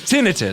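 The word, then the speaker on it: tinnitus: what is that mean some people call it's an incorrect way to pronounce ttis no it's that's the right way it's tinitus what's tonius then tenius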